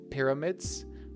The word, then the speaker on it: pyramids: Remember, it's a short I pyramids.